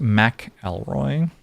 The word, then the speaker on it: McElroy: It's pronounced McElroy. At least that's how he and his whole family pronounce it.